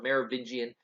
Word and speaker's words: Merovingian: would become known as some marrow bin giant or a different different ways thereby Merovingian is pretty common pronunciation the kings there that